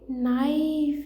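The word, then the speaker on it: knife: ठीक, अगला है नाइफ, इसमें कौन साइलेंट बेटा है, के।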